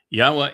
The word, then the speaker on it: Yahowah: And then he said, tell the children of Israel that Yahowah has sent you. Yahowah is the way I want to be known and remembered for all time and all places. Yahowah is God's one and only name.